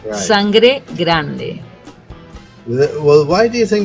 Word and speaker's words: Sangre Grande: don't understand really because I can understand if they say Sangre Grande given the fact of the E pronunciation in the English language but I don't know